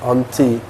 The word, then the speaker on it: auntie: Jadi ini jadi A, auntie. Bukan jadi O ya, auntie.